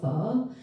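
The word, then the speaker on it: phở: is beef noodle soup it's called fall and you say it like a question mark can everyone try it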